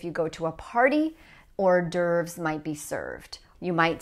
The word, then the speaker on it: hors d'oeuvres: Now, that's not the correct French pronunciation, but in English, we say hors d'oeuvres, hors d'oeuvres. Notice that the H and the S are silent here, hors d'oeuvres.